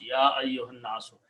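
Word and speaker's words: يا أيها الناس: So ya ayyuha and annaso, when you read together, you pronounce ya ayyuhan naso.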